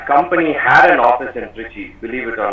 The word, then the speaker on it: Trichy: Oh, sorry, Trichy, as it is supposed to be pronounced.